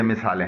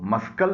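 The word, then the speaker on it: muscle: ऐसे अल्फाज की कुछ ये मिसालें हैं। मसल, इसमें देखिए सी साइलेंट है, इसको मस्कल नहीं पढ़ा जाता।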